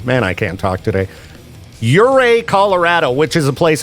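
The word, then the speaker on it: Ouray: Um, Uray is really cool. That's spelled uh O U R A Y if you want to check it out.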